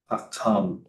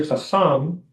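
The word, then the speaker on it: חכם: Hakam. Okay, you said hakam, but you can say chacham because there's no dagesh inside the kaf, right?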